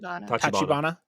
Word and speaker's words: Tachibana: Is it, how do you pronounce the Tachibana? Tachibana.